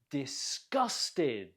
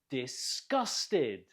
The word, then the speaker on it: disgusted: Disgusted. Note the stress on the second syllable. Gus. Disgusted.